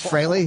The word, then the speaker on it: Frehley: it's I would fry freely admits that Frey is the proper pronunciation it it is fry Frey yeah that's so